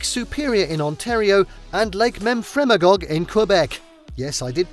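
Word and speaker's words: Memphremagog: british columbia lake superior in ontario and lake memfremagog in quebec yes i did pronounce it correctly and finally you won't believe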